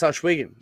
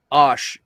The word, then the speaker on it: Ohsweken: Yeah, it's Ohsweken. They say it really fast, kind of like Newfoundland. It goes by quick, and you don't really hear all the pronunciation. But I think the biggest thing I hear is Osh. It's not Osh, like Oshkosh.